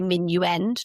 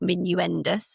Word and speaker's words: minuend: So for example we say minuend not minuendis it comes from minuendis